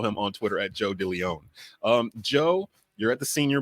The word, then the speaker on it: Deleone: Deleone. I want to say that E for some reason there. Well, you're supposed to pronounce it with the E.